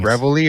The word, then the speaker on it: reveille: Is it pronounced reveille or reveille? Reveille. Reveille. I've my entire life I pronounced it reveille. Mm-hmm. Yeah, it's reveille.